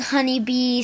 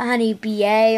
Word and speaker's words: Honey Bea: so it still smelled honeybee so if you see her ever lost uh uh just be sure to pronounce it honey bee not Honey B A or I don't know